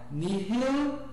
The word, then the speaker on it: nihil: O H sempre aspirado como no inglês hello. Então niil. Olha, o L também é bem pronunciado, né? Nihil.